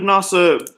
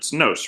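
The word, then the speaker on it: Nosse: Representative Nasa, sorry, it's Nos, right? No, yeah, it rhymes with dose.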